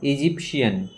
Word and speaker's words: Egyptian: ইজিপ্ট মিশরের রাজধানী, আর ইজিপ্টে যারা থাকে তাদেরকে বলা হয় ইজিপশিয়ান। কি বলা হয়? ইজিপশিয়ান। এখানে টি এর উচ্চারণটা তালবস্যা হয়ে যাবে।